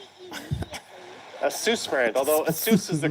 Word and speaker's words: ASUS: Although ASUS is the correct way to say it. A lot of people say ASUS.